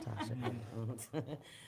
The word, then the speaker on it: Tosha: Think Tosha, even though it's pronounced Tasha.